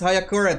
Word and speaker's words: Hayakuren: Hayakuren. Sorry, the correct pronunciation is Hayakuren.